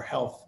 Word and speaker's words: HLTH: uh first of all it's spelled hlth but it's pronounced health we get that a